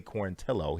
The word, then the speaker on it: Quarantillo: Billy Quarantillo. He made sure that we pronounce his name correctly moving forward.